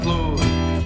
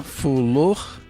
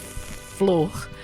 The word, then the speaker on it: flor: It's a different pronunciation for flower in Portuguese, which is flor. And then people say fro, people say flo, people say fulo, all very cute mispronunciations.